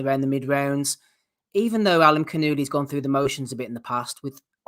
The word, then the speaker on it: Alimkhanuly: Alimkhanuly.